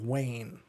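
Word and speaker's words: Wain: names are Ember and Wayne well it's spelled w-a-i-n like rain except with that w that's really cool I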